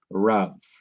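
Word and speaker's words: רב: the last syllable now here is a one syllable word RAV r paak b RAV in English r a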